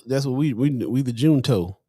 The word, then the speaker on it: Junto: pops in the chat says pronounce june toe june toe benjamin franklin had the